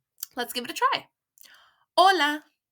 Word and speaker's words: hola: on please note that the letter H which in Spanish is called Ace is a silent letter therefore we write it down when writing but we don't say it out loud this is a silent